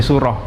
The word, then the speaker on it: Suro: mengenal bubur Suro bubur Suro atau bubur yang dibuat ketika bulan Muharram namun dalam hal ini pelafalan Suro tidak setidak eh yang dimaksud Bulan Muharram namun pengucapannya seperti dialektika orang Topan menjadi Suruh lah ini ada sedikit perbedaan